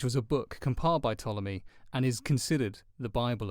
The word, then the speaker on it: Ptolemy: His name was Ptolemy, spelt with a P. Like pterodactyl. I learned that this week. That's quite clever, and I don't think you've realised that. Yeah, Ptolemy, like pterodactyl.